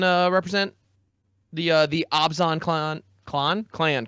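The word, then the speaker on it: Abzan: So hopefully I can uh represent the uh the Obsan clan clown clan correctly. See, I said I've been saying Absan clan for so long.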